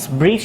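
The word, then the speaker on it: breeze: আবার বলছি, শেষে ই থাকলে, কোনো শব্দের শেষে ই থাকলে, according to English phonology the final or last E must be silent, শেষের যে ইটা থাকবে এটা অবশ্যই সাইলেন্ট থাকবে।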